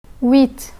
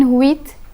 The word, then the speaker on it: huit: Petit, huit. Petit, huit. The final T in petit is silent, but the T in huit is pronounced.